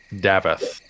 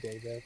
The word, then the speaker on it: Davith: okay so anyways Mr davith am I pronouncing that right davith please probably gonna just instinctively keep saying DAV but that's all right